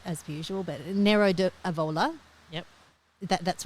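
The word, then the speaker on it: Nero d'Avola: going to say it right as usual but Nero aola yep that that's right that'll do now what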